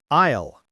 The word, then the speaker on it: aisle: The P is silent. On sale, shelf, cashier, aisle, i, l.